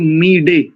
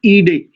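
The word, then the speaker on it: ईळे: है, इसका शुद्ध उच्चारण कुछ लोग मीडे ऐसा भी करते हैं। वस्तुतः जब पदच्छेद होगा तो अग्निम ईडे, ईडे स्तुति अर्थ में प्रयोग होता है।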